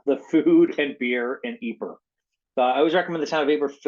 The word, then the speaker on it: Ypres: So the food and beer in Ypres.